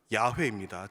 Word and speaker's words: 야훼: 따스한 인격을 담은 이름입니다 성경 원문의 더욱 가깝게 발음하면 야훼입니다 즉 여호와 샬롬 야훼